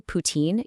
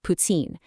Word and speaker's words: poutine: In Quebec French, when a T is followed by an I, it creates the subtle ts sound. So, you don't say poutine, you say putsine.